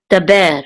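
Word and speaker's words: דַּבֵּר: then this is a dalet with a patak, so this says da, and this is a bet with a sere, so this says be, and this is a resh, which is part of that syllable, so it's ber, daber.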